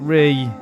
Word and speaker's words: Rhi: And Ree is spelled R-H-I.